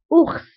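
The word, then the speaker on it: ours: هنا كننطقوها مثلا اوخس اوخس والدب اوخس دونك هنا اوخس كنطقو لا ليتر اس كتنطق في اخر الكلمه.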